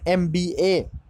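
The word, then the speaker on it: MBA: words है next देखो aviation starting with वल sound A एम एम एम बीए ठीक है तो कुछ एविएशन जो कुछ वल साउंड से शुरू हुआ है न एमबीए इधर एम बी ए एम एम ए ए आ गया एक इस तरह का साउंड है भावल कंसोनेंट भाल साउंड है इसलिए उसके पहले आन इस्तेमाल हुआ है एमबीए एक ए आता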